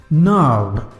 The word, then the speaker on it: gnarled: Gnarled. Here G again is silent. G is silent here.